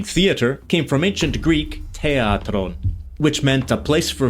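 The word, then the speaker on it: θέατρον: It's a t but it's aspirated.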